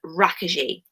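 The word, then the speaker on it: Rákosi: cosy but he's actually the way you pronounce it is raka G okay now raakhi she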